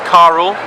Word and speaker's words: Carell: And Carell Thomas, although I am told the pronunciation of Carell is Carl, I can't do it.